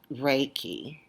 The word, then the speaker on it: Reiki: is and it still our AI ki is pronounced Reiki it is a form of energy healing and